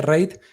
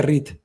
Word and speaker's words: REIT: Primero no se dice, Jordi, no se dice rate, se dice REIT, ¿vale?